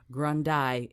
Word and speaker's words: Grundy: And did I say it right, or is it Grundy? I doggone it. Grundy. See, Grundy. We've just had good. This fabulous conversation about name changing when you are when you have the opportunity to do so, and Grundy is the name that is the right name, and I'm going to say it correctly.